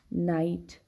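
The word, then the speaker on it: knight: In all these words, we do not pronounce the sound of the letter K. So we have to remember, when K is before N, when it precedes the letter N, we do not pronounce it.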